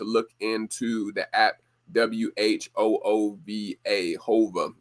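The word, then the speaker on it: Whova: Hova is, I think, the name that they pronounce it as. But it was a very interactive and simple app to use, no matter what your age is.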